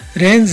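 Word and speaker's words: reins: of hers नी अ इसमें जो रेंज है इस मुख्तलिफ इनकी प्रोनंसिएशन एक है लेकिन स्पेलिंग के हवाले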